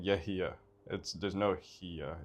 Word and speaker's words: Yehia: It's Yehia, and the H isn't really a H. There's a letter in Arabic that's not in English. What am I saying? You're saying Yehia.